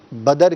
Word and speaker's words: بدر: تو لفظ جو ہے وہ بدر ہے, بدر نہیں ہے. یعنی کہ دال کے اوپر زبر نہیں پڑھنا بلکہ دال کے اوپر جزم پڑھنا ہے.